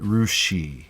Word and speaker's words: Russia: And Russia, everyone knows Russia, but there's a city that's spelled the same in Ohio, and they call it Rushi.